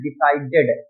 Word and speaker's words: decided: अब देखिए जो ed लगा है, some of people जो pronounce it, इसका बहुत से लोग pronounce करते हैं decided, एक ही मात्रा बोलते हैं ना, लेकिन ये एक ही मात्रा नहीं होती, ये id होता है. id, decided, decided क्या होता है?